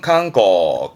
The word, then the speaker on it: 観光: 발음은 칸고, 칸고에서 또한 칸 가네요.